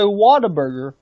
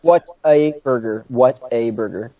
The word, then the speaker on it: Whataburger: Can a In-N-Out burger or a Whataburger, is that how you say it, Whataburger? Yes. What a burger!